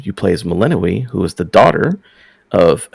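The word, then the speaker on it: Melinoë: It's Melinoe.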